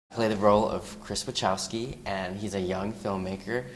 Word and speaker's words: Wachowski: Well, we should by now, but like JT says it one way, and the rest of us are pronouncing it one way. It's Wachowski.